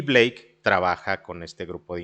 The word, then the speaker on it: Blake: mencionabas hace ratito a Black, no, pero no es Black, es Blake Lemon.